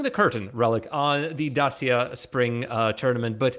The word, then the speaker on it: Dacia: relic to pronounce it dasia he sticks to his guns it's romanian it's the romanian i don't know what to tell you about it that's how you say it well we'll have our